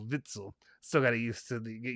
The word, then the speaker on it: Witsel: uh compensation all right vitsel sorry not whitzel vitzel still gotta use to